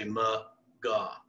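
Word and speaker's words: McGaugh: So it's spelled M-C-G-A-U-G-H. Real funny spelling, but it's real easy to say. Just say McGaw. It's that simple, all right?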